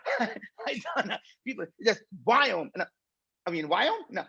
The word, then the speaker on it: Viome: I named the company that Indians cannot pronounce. Indians cannot pronounce the word we. I cannot do we. I just do we. And so what is we? It's a we as in Victor.